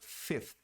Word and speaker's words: fifth: Vira fifth. O I vira I. Cai o V, entra um F e o TH.